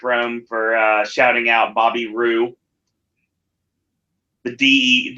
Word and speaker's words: Roode: for shouting out Bobby Rue the de the D is silent it's just like Jango